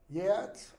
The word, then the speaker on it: Geats: I would pronounce that Yats, like YEATS. And one person put down Yeats or Yates, YEATS. I went ahead and accepted it because that is an acceptable pronunciation for Old English GEATS.